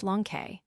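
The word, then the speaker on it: λόγχη: This name Longinus is related to that of the spear itself, in Greek logke, pronounced lonke.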